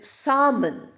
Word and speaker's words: salmon: Then salmon. We don't say salmon. It's a fish. The pronunciation is s a m.